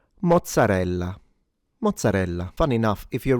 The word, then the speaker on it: mozzarella: This is pronounced mozzarella. mozzarella mo zza re lla mozzarella Notice it's not mozzarella. There is a double z, which is pronounced as a ts but stronger {slash} longer.